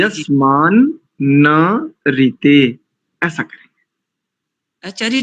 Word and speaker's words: यस्मान्न ऋते: और यस्मान नहीं बोलेंगे, यस्मान ऋते नहीं, यस्मान न ऋते, ऐसा बोलेंगे।